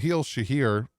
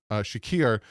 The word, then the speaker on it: Shakir: James Cook still went off and uh Kahil Shahir, butchered that name, Shakir uh was their leading, but that's it.